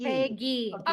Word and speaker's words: Faigie: Faigie.